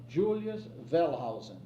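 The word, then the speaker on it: Julius Wellhausen: Well, it goes back to a work that was done by a very great scholar Julius Velhausen. Pronounce that W as V because he was a German and they pronounced W's as V.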